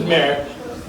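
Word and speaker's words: Marrette: My name is Merritt. It's spelled M-A-R-R-E-T-T-E.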